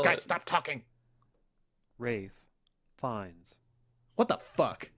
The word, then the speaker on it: Ralph Fiennes: Rafe Fiennes. What the fuck? It's Ray Fiennes. It's Rafe Fiennes.